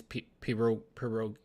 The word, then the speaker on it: pierogies: I'm doing low carb right now, but like as soon as I'm off, I'm getting on these pierogies. I don't want to be disrespectful. Hold on. How do we pronounce this?